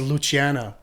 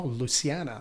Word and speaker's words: Luciana: I thought it was Luciana until you said her name. No, until I heard her say her name on a little doc. Yeah. And I was like, oh, Luciana.